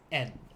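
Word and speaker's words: 円: That is correct, but in Japan, they're going to use N. They pronounce it as N. Just E-N.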